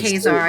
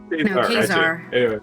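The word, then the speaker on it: Caesar: Yeah, how you pronounce it is Khazar. I took Kazar. That's how you pronounce it in Latin.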